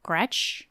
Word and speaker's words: Gretsch: I think as of February, he has a Gretsch. Uh-huh, that is correct. Which is news to me. Is that how it's spelled, or how it said?